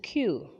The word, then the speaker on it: queue: can continue to our number five which is q which is q can you say q again good so q is spelt as q u e u e have